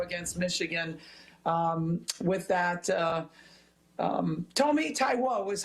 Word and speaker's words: Taiwo: Tomi Taiwo is how you say her last name.